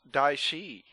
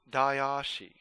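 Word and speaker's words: Daishi: to remind you that it is pronounced die she not die ah she a lot of people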